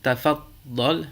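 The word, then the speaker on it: تفضل: On dira sukkar, tafaddal, muallim.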